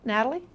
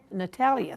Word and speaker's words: Natalia: or other media now Natalie caption caption is Right am I pronouncing your name correctly okay what is it Natalia Natalia thank you pencil's ready